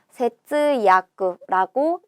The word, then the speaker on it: 節約: 마디절에 맺을 약자를 써서 세츠야쿠라고 읽습니다.